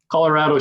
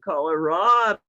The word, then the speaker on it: Colorado: songs about Colorado that you pronounce it Colorado, because it doesn't sing well when you say Colorado.